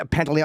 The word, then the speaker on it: Pantoliano: different part, and Joe, how do you say Pantoliano? I never know how to say his name. Joe Pantoliano, Pantoliano.